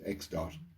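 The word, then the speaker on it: ẋ: so x with a little dot over it pronounced x dot means exactly the same thing and if we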